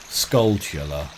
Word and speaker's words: Skulltula: Right, it's apparently a pun on tarantula, right? It's scullata. Tarantula, Skulltula. Okay, we'll go with that.